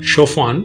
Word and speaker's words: Chopin: famous shaen Memorial this is the statue of chaan or it is spelled as c h o pin he was